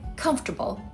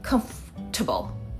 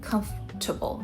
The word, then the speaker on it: comfortable: Like comfortable, right? Many learners expected to be pronounced as com-for-ta-ble. But a lot of Americans say like comf-ta-ble. Like comf-ta-ble. So three syllables.